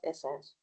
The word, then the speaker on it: Essenes: The essence is spelled ESSENES. That's essence.